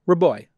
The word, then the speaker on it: Rabois: him on the Twitter our is Raboy that's that easy to pronounce and he is a